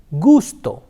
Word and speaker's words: gusto: na ah katana now when the letter K comes to the wobble or is used with the bubbles ah oh and ooh the sound is girl the sound is girl like you have an English game gun go we'll see some examples